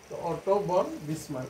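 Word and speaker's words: Otto von Bismarck: আর দুই নম্বরে আমরা যেটা বলব যে অটো অটো বন বিসমার যদিও তার নামের উচ্চারণে বন হলো বানান বন হয় অটো বন বিসমার্ক এ দুইজন শাসকের দ্বারাই এই ব্লাডেন আয়রন পলিসি নীতিটা বাস্তবায়ন হয়েছিল এবং যা ইতিহাসে বিখ্যাত হয়ে আছে।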